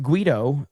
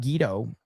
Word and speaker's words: Guido: It's pronounced Guido, not Guido.